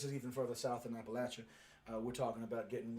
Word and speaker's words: Appalachia: there is actually pronounced appalachia not appalachia appalachia is what you yanks like to say but we down here we like to say oh we're going to throw an apple at you appalachia but anyway this is